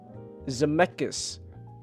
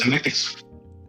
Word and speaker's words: Zemeckis: Why is it hard to pronounce director's name, Chelsea? Zemeckis. Isn't that Zemeckis.